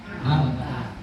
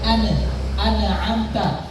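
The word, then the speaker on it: أنعمت: Nah, jadi cara membacanya anamta tapi ingat jangan sampai dipantulkan. Bukan an anamta tapi anamta. Nunnya itu ditahan.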